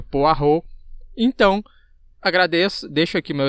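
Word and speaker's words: Poirot: eu tava chamando o poiron né detetive poiron aí ele me corrigiu a pronúncia na verdade que não é poiron É poar então agradeço deixo aqui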